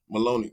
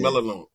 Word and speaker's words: Melinoe: Maloney Yeah, yeah. Melinoe.